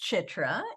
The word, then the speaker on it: Chitra: so my name is chitra and let me help you pronounce it because it's a different kind of a name it's and then tra simple easy um it